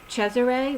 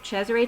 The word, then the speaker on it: Cesare: going for the gold Cesare which is the Italian pronunciation of Caesar Cesare to trump root throat